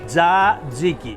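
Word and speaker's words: tzatziki: Say it. Zadiki. Zaziki. Zadziki. Zadziki. Exactly.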